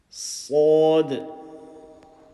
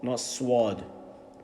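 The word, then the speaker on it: ص: Sod. Full mouth, and not swad.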